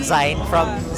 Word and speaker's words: zine: I just realized it's supposed to be pronounced zine, not zine, from magazine.